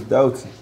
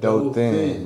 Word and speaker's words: Dothan: You know, just like how you saying this, Dothan.